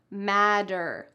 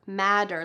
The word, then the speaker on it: matter: not pronounced like that they're pronounced in American English matter matter like a d to not matter in